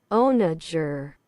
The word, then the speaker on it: onager: Onager. Onager. Okay, that was nowhere close. onager. Yeah, I would have never guessed that it was a soft G.